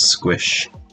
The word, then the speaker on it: sqsh: terminal we'll use the command sqsh pronounce squish in an interactive database